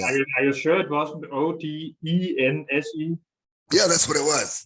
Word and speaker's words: Odense: Are you sure it wasn't O-D-E-N-S-E?